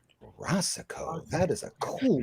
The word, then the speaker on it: Racicot: I hope I'm pronouncing this right. Rey, right, Cot.